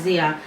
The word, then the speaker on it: Zaya: Oh, so Zaya spelled XIH. It says so Zaya would pronounce as Zia.